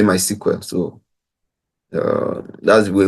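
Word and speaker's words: MySQL: modify how you want it to behave so my squl as some people say my SQL but we simply say my SQL so uh that's the way we normally pronounce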